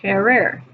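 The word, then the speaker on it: querer: stem changing verb gets conjugated is the verb ker. Ker means to want. Notice in the infinitive it's spelled q u e r e r.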